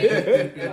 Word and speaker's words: Neesha: All right, sweet Neesha. Okay. Had to spell that out for y'all. Right? You know. I be trying to put an I in my name. Like Keisha. Right? Neesha.